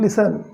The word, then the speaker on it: listen: सुनते थे, did not listen। Okay, इसको पढ़ेंगे listen, not listen, T silent है, बीच में जो टी है वो साइलेंट है, लिसन, ठीक है।